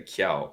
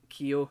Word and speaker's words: Kyo: I was saying Kiao. You were saying Is Kiao, that which honestly I might start calling him because it's quite funny because I know that will annoy him. But Kyo is how he generally wants it pronounced.